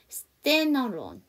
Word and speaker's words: standalone: 그래서 D 발음을 하지 않고 N 발음을 넘길게요. standalone, standalone 이렇게 되겠죠.